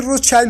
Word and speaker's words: Rothschild: Bueno, Rothschild si lo pronuncias en inglés, y porque mucho tuvo que ver con Inglaterra, y Rothschild si lo pronuncias en alemán, como también debería de ser, porque pues esto nació o se fabricó en Alemania, y el asunto es